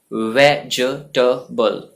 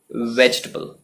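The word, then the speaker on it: vegetable: ये है वेजिटेबल, वेजिटेबल।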